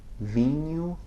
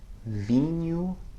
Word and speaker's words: vinho: Listen to the words vinho or tamanho, okay? vinho, tamanho. Okay, it's sort of like the ny combination in the English word canyon, or the ni of onion.